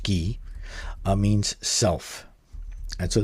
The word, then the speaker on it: 기: this uh character um which in Syino is pronounced ghee uh means self and so this is actually from Zen master Sun's compass of Zen.